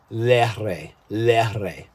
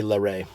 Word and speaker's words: Lehre: He said, my name is Gunther Lehre. So that's how they pronounce it there. But anyway, here we just say Lehre.